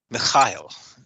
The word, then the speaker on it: Mikhail: alliance he calls himself mikhail to me mikhail well that's this sort of hebrew pronunciation yeah and uh i